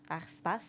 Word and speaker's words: Aarsbos: Aarsbos is how you say.